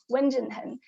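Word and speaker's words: 文震亨: left hand side called wenjun hun so you don't have to memorize his name but just remember the pronunciation wen jin hen he is a renowned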